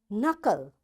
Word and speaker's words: knuckle: It will be silent like in words no, knife, knock, knot, knit, knob, knee, and knuckle, and knowledge. You see, in all these words, because K is there and right after K there is N, that's why this K is silent, right?